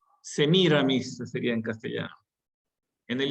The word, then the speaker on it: Semiramis: leyenda de la literatura se pronuncian con acento en la última por influjo francés que mira mis porque es un personaje literario que ya habían sido asumido por la literatura francesa las novelas de antes